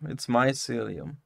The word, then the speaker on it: mycelium: As opposed to your mycelium, it's mycelium. Maybe that right. Helps. So, so what do they fill balloons with? Helium. So, celium rhymes with helium, and it's your celium, so it's my celium.